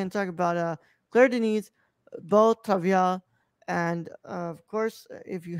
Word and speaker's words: Beau Travail: Beau Travail, French, it's pronounced, Beau Travail, which is French for